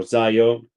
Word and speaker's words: ZIO: Also, Zio or Zayo, I think it's the correct pronunciation is Zio, but I also heard a lot of way call it Zayo. For us that we are Italian, it's clearly Zio.